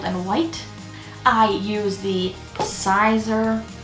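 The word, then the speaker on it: Siser: white i use the sizer or caesar easyweed i have heard it pronounced both ways i don't know what to think my brand says sizer but i have a feeling it's caesar a tube ipad computer cell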